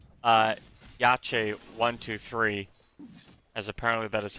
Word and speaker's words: YACHE123: out for what I'm now going to call YACHE123, as apparently that is how you pronounce that.